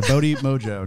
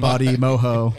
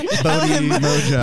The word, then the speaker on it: Bodhi Mojo: Yeah, Bodhi Mojo. Not Bodhi Mojo. Not Bodhi Moho. Bodhi Mojo. Bodhi Moho is fun.